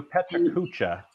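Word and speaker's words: PechaKucha: They do Petra Kucha, 20. Right? Yeah. Finally, somebody said it right, because I can never say it right. I had never said that right.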